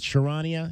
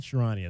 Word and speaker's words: Charania: I don't know how to pronounce that young man's name. Is it Charania? Charania, that sounds Charania, yeah.